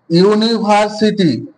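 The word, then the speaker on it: university: দেখো এক্সাম্পল দেখো এই একটা ওয়ার্ড লিখলাম আমি ইউনিভার্সিটি কি লিখলাম ইউনিভার্সিটি এই ইউনিভার্সিটিতে উচ্চারণ করো প্রথম কি আসছে ইউ আসছে আরেকটা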